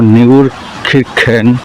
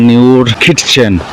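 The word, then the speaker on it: Neunkirchen: অস্ট্রিয়ার একটা ডিস্ট্রিক্ট হল নিউর খিরখেন আগে এটাকে উচ্চারণ করতাম নিউর খিরচেন পরে একজন জানলাম যে আসলে উচ্চারণটা কি হবে এখানে পতাকা লাগানো এখানে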